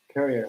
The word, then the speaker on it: Currier: Yeah, and you pronounced it right, Currier.